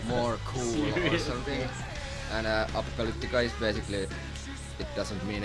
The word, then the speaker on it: Apocalyptica: But though we have now like a record company based in London and New York, none of them can pronounce Apocalyptica. It's Apocalyptica.